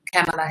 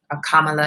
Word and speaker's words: Kamala: the responsible thing and talk about this um kamela harris kamala harris and i pronounced her name kamala kamala kamala i think